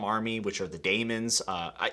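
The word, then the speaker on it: Daimon: are The Damons uh is it Damons or demons because the audio book basically says demons which I thought was interesting let me know down in the comments if I'm pronouncing that right uh I think the audio book would be correct by the way the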